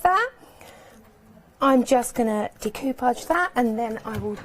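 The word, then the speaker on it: découpage: Decoupage. Decapage. It's the real way to say it actually cuz it's French.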